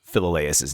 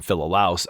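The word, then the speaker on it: Philolaus: But the first one I I just flat out mispronounced Philaus's name. I called him Philouse. I don't know where that came from. I just like probably saw it on on my little cheat sheet and it just came out and when I heard it on the podcast I was like that that is clearly not how you pronounce that name.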